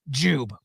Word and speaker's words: Jiub: see the the evidence of that it is pronounced JW all right first we're gonna play an ad